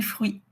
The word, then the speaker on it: fruits: Les fruits. Pareil, on prononce pas le thé. Les donc ça finit par i. On entend pas du tout du tout le thé. Ça fait les fruits.